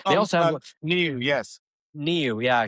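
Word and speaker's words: NIU: New. Yeah, he said it's actually pronounced New.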